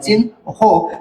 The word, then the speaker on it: চিহ্ন: তো আমরা কি শিখছি, পরের বর্ণের উচ্চারণ আগে হয় আর আগের বর্ণের উচ্চারণ পরে হয়। তো দেখেন এখানে চিহ্ন বানানে তাহলে কি উচ্চারণে, তাহলে কি হবে আমাদের এখানে, আমরা উচ্চারণটা যদি এই কালি দিয়ে লিখি, দেখেন এখানে চয়ের অস্বীকারের চি, তারপরে আগে নয়ের উচ্চারণ হবে চিন, আর হয়ে ঔকার হবে চিন হো।